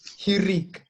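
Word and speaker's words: hiriq: It is pronounced Shinika. as I, but what is it called? Shirik. Hirik.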